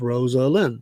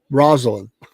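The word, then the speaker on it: Rosalynn: The former president sometimes called his wife, who died November 19, 2023, Rosie, which is a good way to remember how her name actually is pronounced. It is Rosalind, not Rosalind. Rosalind.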